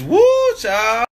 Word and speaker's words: whew chile: Like W-H-E-W Chile. Chile? It's woo, child.